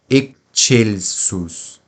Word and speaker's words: excelsus: O V, como em português, o X possui o som de KS. Então, excelsus.